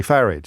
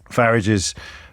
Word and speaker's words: Farage: It's like garage or garage. But he actually bridles when you say Farage.